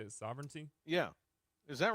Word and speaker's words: Sovereignty: Sovereignity or I think that's how you say it. Sovereignty.